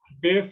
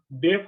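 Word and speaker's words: deaf: ডেফ স্যার, এটা কি স্যার মানে শুনতে পায় না, এটা না বধির তো? ডিফ, হ্যাঁ বধির। স্যার তাহলে তো স্যার ডেফ হবে না উচ্চারণ?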